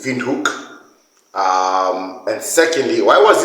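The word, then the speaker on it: Windhoek: on the list is Vin Haw in Namibia I hope I pronounced that correctly but if you are from Namibia uh you pronounce that incorrectly it's Vin hook um and secondly why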